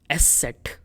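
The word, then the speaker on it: ß: And this alphabet is pronounced as S-set.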